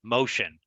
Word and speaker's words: MOCEAN: why we call ourselves motion so it's because our mission is the ocean and so we very much like the particular term because it's pronounced like the word uh motion and of course an